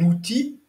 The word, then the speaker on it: outil: c'est de là un outil le substantif on ne prononce pas le l et utile un U et un L qui est bien prononcé c'est l'adjectif donc pour